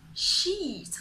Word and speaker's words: sheet: But in the cases where you should have pronounced the long E, the smile saves you.